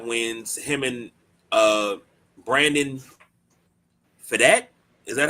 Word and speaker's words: Pfaadt: Him and Brandon Fadat, is that how you say it? PFAADT. Come on, Midnight Rider, you good with that? Fat?